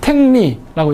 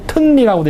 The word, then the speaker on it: 탱리: 그래서 탱리라고 읽었어요. 또는 튼리라고도 읽었습니다.